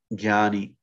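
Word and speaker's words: jñānī: but generally for people to understand you, it's jnani or jnana is a, if it's another word, similar, a related word, jnani.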